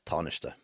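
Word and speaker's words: Tánaiste: Yes, that that's tarnish.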